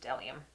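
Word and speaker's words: Dellium: in the front of it but it's just delium for some reason the bee is silent um I got a few of them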